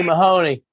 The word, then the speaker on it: Mahoney: owe someone an apology it's not cma honey it's c mahoney say mahoney honey oh well wrong in fastest on the wrong syllable right well there's there's